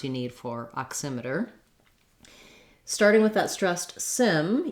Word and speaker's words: oximeter: have my voice on touch my tongue to the t and d spot and then release back into the er sound oximeter if you have trouble with your er sound at the end your tongue should be back and tight er der oximeter it might help you